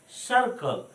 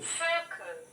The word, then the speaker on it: circle: सर्किल नहीं बोलना है, सर्कल। सर्कल इट मीन्स दो कहता है ball is इन सर्कल shape. Now सुनिए, Circle. Wheel is circular in shape. सर्कुलर in shape, सर्किल नहीं बोलेंगे, सर्किल इज रॉन्ग प्रोनाउंसिएशन।